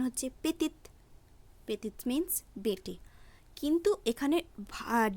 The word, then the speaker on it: petit: তো সাধারণভাবেই এখানে টি এর উচ্চারণ হবে ত হিসেবে, কিন্তু ঠিক এখানেও দেখব শেষের টিটি অর্থাৎ টি একটি কনসোনেন্ট, তাই শব্দটি সম্পূর্ণ উচ্চারণ হচ্ছে না, উচ্চারণ হচ্ছে PETIT পেতি।